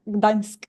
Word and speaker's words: Gdańsk: ask you how to pronounce Gdansk, I think. Gdańsk, Dansk? yeah, Gdańsk.